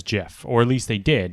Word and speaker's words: GIF: every instance of english words where you have gi the g is soft so if you're an english speaker and you see gif written and you don't know what it stands for the natural pronunciation is jeff i'm gonna i'm gonna